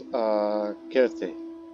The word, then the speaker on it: Kirti: Now, Vijayabahu, and notice that his birth name is Kirti, but it's pronounced as Kirti.